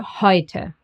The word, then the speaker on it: heute: And E and U. Together they get pronounced as Oi, like in Europa, neu, or heute.